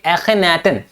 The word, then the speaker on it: Akhenaten: अब ये बड़े अजीबोगरीब वर्ड है जो कि इजिप्शियन वर्ड है, तो इसको प्रोनाउंसिएशन आप करिए एखेनाटन, जिसका मतलब होता है मीनिंग सर्वेंट ऑफ एटेंस, एटेंस का नौकर, एटेंस का सर्वेंट, है ना।